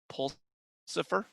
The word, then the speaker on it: Pulsifer: Oh, I love today's quote from Catherine Pulsifer, rhymes with Lucifer. Time and balance, the two